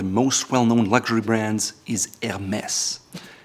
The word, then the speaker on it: Hermès: Probably one of the most well-known luxury brands is Hermès. It has an H in the beginning, but in French, usually that's silent, so it's not Hermes or Hermès, it's Hermès.